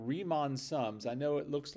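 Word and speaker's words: Riemann: it should be pronounced Ryon uh but it's German and so in German when you have two vowels next to each other it's the it's the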